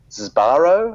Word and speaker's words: Sbarro: I'm not sure how it's pronounced, but let's go with Sbarro, S-B-A-R-R-O.